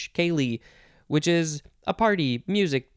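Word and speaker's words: ceilidh: pick kaylee and specifically the more complicated spelling c-e-i-l-i-d-h kaylee which is a party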